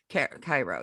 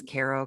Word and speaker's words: Cairo: in pismo he was uh lived in cairo cairo yes that's how you pronounce it i always caro cairo yeah and uh yeah and i i